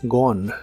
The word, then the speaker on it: gone: en el participio es gone se pronuncia sin la e del final y la o es como una O profunda gone gone lo usas en ideas